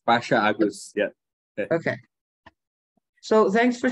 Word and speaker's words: Agoes: Is that the pronunciation, Agos? Yes. Pasha Agos.